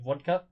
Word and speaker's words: vodka: In Russian, or I guess with a Russian accent, it'd be pronounced more like vodka, like a very soft V into like a W-E sound.